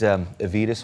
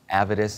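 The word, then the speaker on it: Avedis: recently switched over to these Avitus ones avid ice I've heard him pronounced both ways I'm gonna go with the Vitas this is my setup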